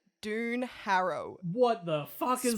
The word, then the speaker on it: Doon: Doon Harrow. What the fuck is Spelt that?